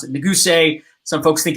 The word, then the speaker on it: Neguse: A lot of folks, it's when they meet me, right, and it's Neguse, and some people pronounce it Neguse.